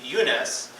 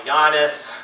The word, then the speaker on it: Younus: And I was growing up in northern Virginia, I was the only Eunice in my class. And people sometimes would have struggle to say it or pronounce it. They would call me Yiannis, they would call me Yonas.